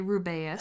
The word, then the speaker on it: Rubeus: We also had Robbie Coltrane as Rubeus Hagrid. Or as you like to say, Rubeus.